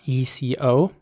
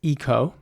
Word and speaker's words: eco: combination the letters are e-c-o and in british english you would pronounce this eco again not everyone would say eco but many people do say eco the whole